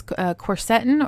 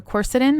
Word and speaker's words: quercetin: on the list is corsetin or quercetin i've heard it pronounced both ways tomato tomato one thing about this though